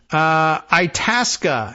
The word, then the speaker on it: Itasca: On another note, Itasca is the correct pronunciation of the area and lake that we mentioned not that long ago.